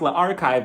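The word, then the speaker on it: L'Archive: French classes, and yeah, it's pronounced Le Archive with the L apostrophe archive.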